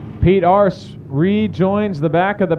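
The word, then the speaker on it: Arce: in that nine machine last name is spelled a rce in case you were wondering what I was saying Pete ARS from Corpus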